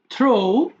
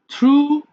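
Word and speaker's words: threw: থ্রো মানে নিক্ষেপ করা, থ্রো, থ্রু, থ্রোন। দেখো মাঝখানে এটা হবে থ্রু হয়ে যাবে, কিন্তু এটা যদিও আমরা থ্রিউ বলি বাট শুদ্ধ উচ্চারণটা হচ্ছে থ্রু।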